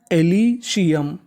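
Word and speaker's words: Elysium: एस आई सी यूएम यूएम को हम लोग पढ़ते हैं अम यानी कहीं पर आपको यूएम लिखा मिले तो आपको यूएम का उच्चारण करना है अम तो मीनिंग एलीशियम एलीशियम एलीशियम एलीशियम का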